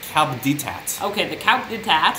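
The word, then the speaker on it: Coup d'Etat: You're pronouncing it wrong. It's Coupe de Tat.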